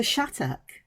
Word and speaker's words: Shattuck: it's chhat and when when I hear it pronounced by Americans it sounds like shadu and I'm going how how' you get to